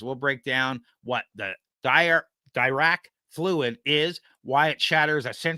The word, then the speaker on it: Dirac: Dirac. Sorry, Dirac. Yeah. Dirac. All right, let's start again, and we'll use Dirac.